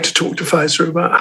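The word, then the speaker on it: Fieser: I'd be fascinated too with another subject that my wife directed me to, and that's the man, Pfizer, his name is, that's how it's pronounced, F-I-E-S-E-R, Louis, first name, who invented napalm.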